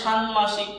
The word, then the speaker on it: ষান্মাসিক: তাহলে ষান্মাসিক, এই যে শান ও শান, ময়কারে মা, শানমা, শানমা, এই ময়কারে মা, শানমা, এই শয়সী শিকশিক, ষান্মাসিক।